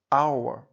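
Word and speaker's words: hour: артикль е a University а от у слові our перша літера є приголосна H Яка в цьому слові взагалі не вимовляється тож це слово ми вимовляємо починаючи з голосного звуку а our саме тому з таким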